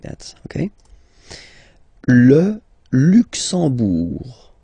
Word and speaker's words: Luxembourg: Le Luxembourg, okay, final G not pronounced, and then when you combine this M here, you get the sound en.